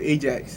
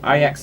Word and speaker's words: Ajax: Oh, I thought you could call it Ajax. You know, like the dishwasher. Yeah, I know, but they're a Dutch team, Ajax So Amsterdam. So that's the right way of pronunciation.